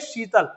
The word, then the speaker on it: शीतल: जब आप बोलेंगे शीतल, क्या बोलेंगे? शीतल। तो शीतल बोला आपने तो जीभ शाख में ऊपर तक गई बेचारी, तालु तक, कि हम तालु को टच कर लें, लेकिन वहां तक उसने कहा नो नो नो, फिर वापस आ गई।